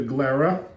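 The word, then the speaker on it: Glera: in 15% of other different grapes but the glara it is spelled g l e r a glara is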